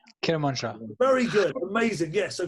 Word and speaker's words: Kermanshah: Begins with K, rhymes with Bermanshah. Kermanshah.